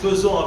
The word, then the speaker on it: faisant: Ça se prononce faisant avec E, mais c'est du verbe faire, c'est FAI.